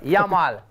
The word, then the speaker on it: Yamal: Y m a l yamal. Yal. Yel.